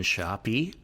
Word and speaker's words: Shoppe: We also want to thank the Greenville Junction Shoppy. The Greenville Junction, I say it that way because that's how it's spelled. Greenville, Junktion, Junction, Shoppy, Shoppe.